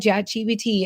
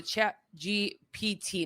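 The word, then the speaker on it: ChatGPT: You're saying it wrong. A chat GPT, not B as in boy, it's P. Chat GBT. Oh, wow. I've been saying B.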